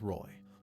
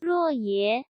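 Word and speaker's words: 若邪: Xie Lian tries to distract the brides with Roy.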